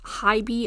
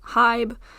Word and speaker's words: HYBE: By the way, I thought they were pronounced HYBE until like 5 minutes ago, and I had to Google it, and turns out they're pronounced HYBE, so the more you know.